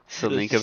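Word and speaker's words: Tselinka: selinka pass selinka yeah the tea is silent selinka pass te is silent what would you like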